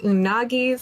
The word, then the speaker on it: unagi: here welcome to Mr unagi's Sushi shop um you're saying it wrong unagi they go oh my